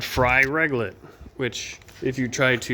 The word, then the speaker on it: Reglet: is what's called Fry Reglet, which if you try to use voice speech-to-text, it will never get that right for some reason. That is Fry Reglet. Not Riglet. Not Regret. Not Uh I don't know.